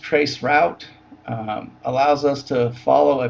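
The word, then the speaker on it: tracert: Trace RT, or pronounced trace route, allows us to follow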